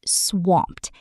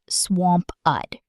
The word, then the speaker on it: swamped: And swamped. Notice the mp sound blends together quickly. Swamped, almost like one syllable, not swamp-ud.